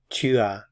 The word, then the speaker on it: tu as: You have, tu as, tu as. Notice I'm not pronouncing the S at the end of the syllable.